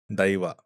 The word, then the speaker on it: दैवा: हमारे यहाँ दई बोलते हैं, आई, दैवा। बट क्योंकि हम हिंदी में बात कर रहे हैं तो समझ में आए सबको, इसलिए मैं देव देव बोलूंगा। ठीक है। बट एक्चुअल प्रोनाउंसिएशन इसकी दैवा है।